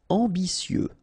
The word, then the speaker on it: ambitieux: Ambitieux final X not pronounce and remember that you t I ambicieux ambitieux amusé.